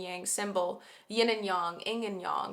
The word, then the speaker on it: yin and yang: In order to make, like, a full yin and yang symbol, yin and yang, yin and yang, because technically that's how you pronounce them.